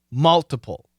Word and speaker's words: multiple: It's multiple with a short U. Multiple. Keep the T. True T. Multiple.